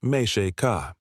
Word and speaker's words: Mexica: The conquistadors had seen the gold of Tenochtitlan and the power of the Mexica, the indigenous name for the Aztecs pronounced Mexica.